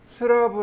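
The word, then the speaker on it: slab: 르 슬라브 라고 합니다 슬랩 이라고 해요 슬랩 이 바닥 이란 뜻이에요 슬레인 데 스라브 라고도 있습니다 이제 일본식 발음인 거죠 일본식 발음은 아예 팥 침이 없죠 슬랩 인데 그거를 스라브 라고도 있구요 혹은 슬래브 라고도 있습니다 바로 이렇게 슬랩 까지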